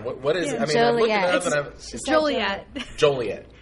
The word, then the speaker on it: Joliet: Iowa and uh tonight we're playing in jet Joliet jolet jolet it's actually illegal to pronounce Joliet wrong yeah it's like a $5